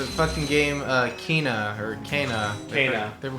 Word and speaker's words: Kena: Kana. They were pronouncing it Kana.